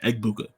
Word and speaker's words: Egbuka: it's egb u k egbuka like EG how you think it sounds is how it sounds there there's some other